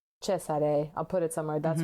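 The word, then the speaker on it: Cesare: I always want to say the Spanish pronunciation like Chzare. Mhm. Chesare.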